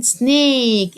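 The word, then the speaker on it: snake: الاخر ماطقهاشراف جراف ثعبان سنيك الاي في الاخر منطق اه سنيك سنيك فيل يعني الي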